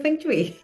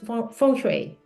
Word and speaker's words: Feng Shui: O sea, en Chile todos le dicen fui y en general, pero es fchu. Fch es como se pronuncia en China.